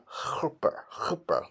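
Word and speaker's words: Kheper: This is pronounced chupper, like the Bach, the H is a sound.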